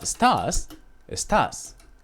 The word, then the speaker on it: estás: So whenever we see that little accent in the top, we have to pronunciate differently. For example, estas in Spanish is these. But estás is you.